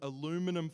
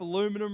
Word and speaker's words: aluminium: of wire wrap some aluminium foil the correct pronounce summation of that is aluminium but we were in the u.s. so we will use aluminium you wrap aluminum around it and you